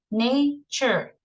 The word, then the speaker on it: nature: El nature es como el CH, ok.